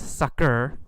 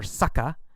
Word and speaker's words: sucker: And then sucker, or sucker, two pronunciations, sucker or sucka.